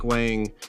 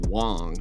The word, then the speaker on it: Hwang: basically this guy's asking Mike Hwang or actually it's supposed to be pronounced Mike Wong is what we were just told but um about post